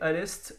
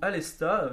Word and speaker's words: Aleste: au Japon uniquement, c'est Alest ou Alesta. Je sais que beaucoup de monde dit Alesta parce que en japonais ça s'écrit Alesta, mais le terme international est Alest.